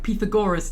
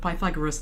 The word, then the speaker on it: Pythagoras: Um like Pithagorus instead of Pythagoras and things like that.